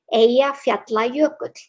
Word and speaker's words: Eyjafjallajökull: has piqued your interest, how you pronounce the volcano is Eyjafjallajökull. Yep. Yep, it's those double L's that really throw people off.